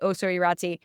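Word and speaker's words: Ossau-Iraty: First of all I say oh sorryi um it's in Basque so that's not at all how it's spelled. It's o s au i r a t y and it is not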